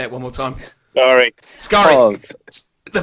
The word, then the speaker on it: Skari: Skari. The pronunciation of Skari.